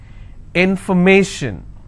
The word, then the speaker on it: information: will stress on stay if i have more number of syllables information first i will break it in for me shin so where do i stress i will stress on me information if i have the